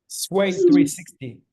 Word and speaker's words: SWYE360: SWYE360.